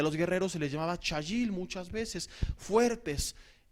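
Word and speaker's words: חַיִל: Es cajail, se pronuncia chayil, significa fuerte.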